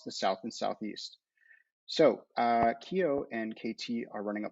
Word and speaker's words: QEO: So there is a Dallas, Texas-based insurance company called Keio, even though it's spelled QEO.